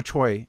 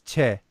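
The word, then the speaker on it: 최: And also Choi, there's no Choi in Korean. It's Che. But these things get translated over.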